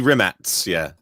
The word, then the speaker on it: Rimac: We say Rimac. I'm trying to pronounce it with the Croatian pronunciation. Yeah, be Rimac. Yeah, with like a TZ kind of ending instead of a C, right?